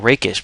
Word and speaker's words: rakish: you pronounce this word people keep saying rockish air and you have to get used to saying raish because I looked up it's raish not rockish but this card card's